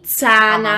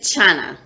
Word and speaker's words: Tsana: There's different pronunciations. Okay. I've heard Tsana with a T. Tsana. Uh-huh. And Tsana.